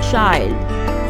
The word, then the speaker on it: child: Similarly, words ending with I-L-D, such as wild, mild, child. The actual sound of short vowel I is E. But in these words, it is pronounced as wild.